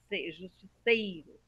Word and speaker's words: Justiceiro: tem acento por quê Porque a penúltima que é a forte Justiceiro tá se fosse o